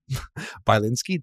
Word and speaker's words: Bilinsky: I know how to say it off camera by linski did I say right yes I know I